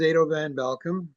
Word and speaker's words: Edo van Belkom: My name is Ado Van Bealcom. I tell people how to pronounce the name. It's Ado like potato and Van Belulkum like you're welcome.